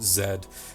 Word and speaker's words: Z: the battle with Z or rather as British pronounce it Zed himself was nothing short